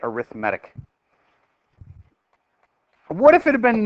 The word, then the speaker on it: arithmetic: an arithmetic sequence like spelled like arithmetic but you say it arithmatic what if it had